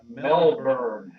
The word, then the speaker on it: Melbourne: When you put And that, it's pronounced Melbourne. B-U-R-N-E. Burn.